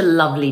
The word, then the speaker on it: lovely: Now let's drop the E sound. It's such a lovely day. Should we go for a walk? It's such a lovely day. Should we go for a walk? So now you can pronounce the word lovely confidently.